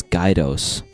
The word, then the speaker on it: Guidos: Because it's Guidos. Like, two guys, like double vision.